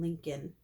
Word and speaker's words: Lincoln: Who can tell us something about the real Abraham Lincoln? Miss Daisy asked after Mr. Macky left with his hat and beard. Lincoln rhymes with stinkin', I said.